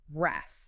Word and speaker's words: wrath: Pronounced wrath. Wrath. And we absolutely must emphasize that short a sound here, right? Like the a in cat. Wrath.